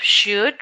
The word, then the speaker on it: should: lashed then we have should remember the L is not pronounced should then we have really